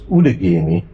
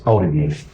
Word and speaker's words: Outagamie: Originally, it was Outagamie. Okay. But currently, today, it's Outagamie.